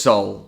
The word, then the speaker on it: Seoul: lullaboes city exclusives yeah i've been pronouncing this place seoul for probably the past two years it's seoul it's just soul wow so today guys